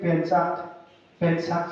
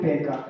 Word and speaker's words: Pencak: The boy is saying it Penchak, something like that, but we call it Pencak, I don't know.